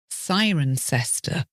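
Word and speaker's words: Cirencester: to catch you out in this case it's siren sester that's c i r n c s t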